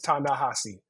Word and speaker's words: Ta-Nehisi: Edward s's nephews um I'm gonna correct you and say the corre correct pronunciation is tanassi um and people who